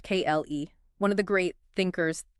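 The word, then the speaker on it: Klee: Which leads us, I think, to Paul Cle, pronounced Kle, one of the great thinkers, theorists of this time.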